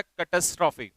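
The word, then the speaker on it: catastrophe: इसका प्रोनाउंसिएशन होता है कैटास्ट्रॉफी।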